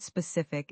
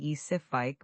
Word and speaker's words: specific: The word specific is another one where stress matters. It's specifi with the stress on the second syllable. Many learners say sifike, but that sounds unnatural.